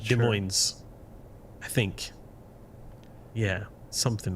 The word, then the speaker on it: Des Moines: Is it Des Moines? I need to learn before the big stream, you know? Des Moines? The S's are silent, I think. But I'm not sure. Des Moines, I think.